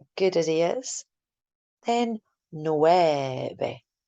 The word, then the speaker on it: nueve: Then nueve. Try to make that V a nice soft B sound.